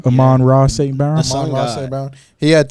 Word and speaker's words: Amon-Ra St. Brown: But with Amon St. Brown, is that how you say his name? Amon-Ra St. Brown.